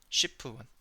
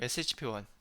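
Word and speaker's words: SHP-1: C 형 렉틴 , 예 를 들어 SHP 1— 아니 , " 쉬프원 " 이라 고 발음 하지 마세요 —SHP 1, 그리고 그 옆 에 DAP 가 있습니다 .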